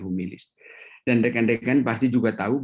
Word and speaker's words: humilis: Tulisannya sama dengan cara membacanya humilis.